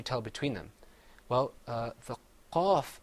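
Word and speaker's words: قاف: Another difference is that the qaf is pronounced full-mouthed. You kind of purse your lips a little bit. You say qaf. Whereas the kaf, you open your mouth up.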